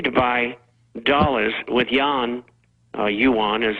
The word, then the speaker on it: yuan: time they continue to buy dollars with Yan Yuan as it's pronounced that uh they create out of thin